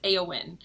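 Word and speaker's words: Éowyn: battle um the entire time her name is eowyn i'm pronouncing that correctly right yeah it held it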